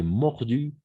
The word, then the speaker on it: mordus: Toujours, on va prononcer mordu, même avec le S, d'accord? Mordu. On était mordu par les chiens. Les pompiers ont été mordus par les chiens.